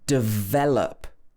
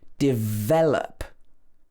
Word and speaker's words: develop: First of all is the word develop. So this should be stressed on the ve part of the word. Develop. The first part of the word is d or di.